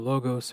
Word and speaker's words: Logos: So they started a school called depending on your pronunciation of Greek, either the Logos or the Logos school.